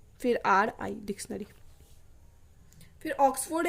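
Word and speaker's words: Oxford: फिर यहाँ आर हम देखेंगे किससे पहले है, आर कॉन्सोनेंट से पहले है, तो आर का होगा नहीं प्रोनाउंसिएशन, आर आएगा भी नहीं, फोर्ड, ऑक्सफोर्ड। ट्रेन, ट्रेन तो काफ़ी इजी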